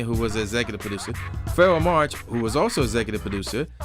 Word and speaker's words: Pharoahe Monch: So I am reviewing Internal Affairs, which is done by Pharoahe Monch. That's how you pronounce his name.